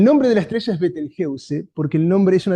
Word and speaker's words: Betelgeuse: Eh, Betelgeuse se pronuncia Beteljeuse. Esto es divertido porque cuando se habla de esta estrella, eh, algunos lo franquifican y lo llaman Betelgus, otros lo anglifican y lo llaman Betelgus o algo así, incluso está quien lo